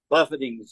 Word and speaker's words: buffeting: that pain and buffeting buffetings uh uh torture hurt it's not it spelled like Buffet but it ain't like going to the Golden Corral or the Golden Dragon